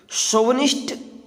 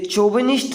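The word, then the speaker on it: chauvinist: शोवनिस्ट CHUVINIST, शोविनिस्ट। सबसे पहले तो इसको हम आप किस तरह से प्रोनाउंस करेंगे देख लीजिए। ये चोविनिस्ट नहीं होता, ये होता शोविनिस्ट।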